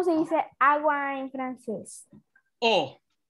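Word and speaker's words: eau: Pues sí, así como lo escuchan, oh. Qué raro, mister, parece oui. Una O. Entonces vamos a escribir O con agua. Pero en realidad se escribe con tres vocales, E, A, U, pero se pronuncia O.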